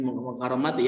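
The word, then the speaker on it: مكرمة: Ini Mukarramati ya dibacanya.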